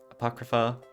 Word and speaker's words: Apocrypha: they've done stuff with Fate Zero fate Apocrypha Apocrypha that's how you say it that's right everything